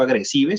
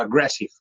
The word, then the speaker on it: aggressive: Y el sif al final, pues yo no digo agresive, sino digo aggressive.